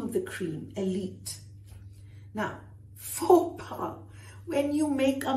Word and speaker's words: faux: Faux. Not forks. Faux.